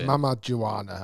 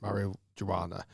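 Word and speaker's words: Mamajuana: it's your hour yeah mama joanna i got the name wrong it's not marijuana or whatever i said mario joanna um and it helps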